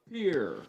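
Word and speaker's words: Pere: catching number 14 tyler pierre pierre will be the catcher so p-e-r-e is how he pronounces his name so pier will round out the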